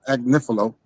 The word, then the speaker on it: Agnifilo: Mark Agnifilo came back, Agnifilo. And that's nothing. She keep pronouncing Mark. I said that because she be saying that. Mark Agnifilo, adding extra syllables on his man's name. His name is Mark Agnifilo.